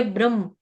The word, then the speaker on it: ब्रह्म: ये वो वाला भ्रम नहीं है, भ्रम नहीं है ये ब्रह्म, ब्र, ब्र। ठीक है, एक तो यहाँ पे गड़बड़ है, क्योंकि वो भी भ्रम है, उच्चारण में लगता है कि हाँ ऑलमोस्ट सेम चीज बोली, भ्रम।